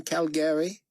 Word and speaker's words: Calgary: a rodeo cowboy in calgary david noticed that carpathia had pronounced the city with emphasis on the second syllable just like the locals i enjoy your open